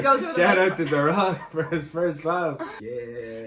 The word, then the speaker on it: Darragh: And she was like, darragh. I didn't say darragh. That's just what all the Americans pronounce it as.